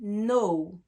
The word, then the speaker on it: know: avec quelqu'un d'accord mais le K est une lettre muette on ne la prononce pas on dit pas know on dit no ok donc savoir no